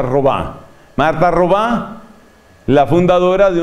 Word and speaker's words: Robin: Se escribe Robin, por supuesto se pronuncia Robá.